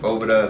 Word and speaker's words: Boveda: tell you today about BEDA cigar humidors uh everybody knows BEDA some people pronounce it Bova they make these little humidity